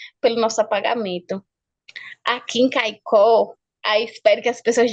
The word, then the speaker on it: Caicó: A palavra Caicó, vem da nossa língua, quer dizer crá, Kei, Kuo, Kei é rio, Kuo, gavião. Aí, como o europeu não sabia pronunciar, ele pronunciava Caiacó. Aí depois ficou Caicó.